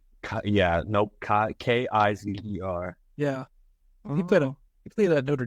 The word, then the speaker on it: Kizer: Give me a Deshaun Kaiser for the Packers and Browns. Fish. Nope. It's DSH. How do you spell that last name? Yeah, nope. Kizer.